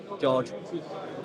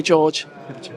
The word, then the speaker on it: Jorge: just speaking to ishma Salas obviously talking about Jorge need to pronounce his name properly George okay George and he was saying he believes that he's